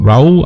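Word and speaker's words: Raúl: রাউ আমি উচ্চারণ করছি, অ্যাকচুয়ালি তাকে রাহুল আমরা যদি বলতে পারি, বাট তিনি একজন মেক্সিকান, এর জন্য তাকে রাউ বলা হয় মেক্সিকোতে, এবং মেক্সিকান নেম অনুযায়ী রাউ উচ্চারণ করা হয়।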